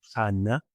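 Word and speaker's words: Ἅννα: Continúa el versículo 36, que hay en Ana, profetis, Ana, que propiamente si lo vamos a pronunciar como está en griego es Hanna, que hay en Hanna, profetis, Sigater Panuel, Equiles Acer.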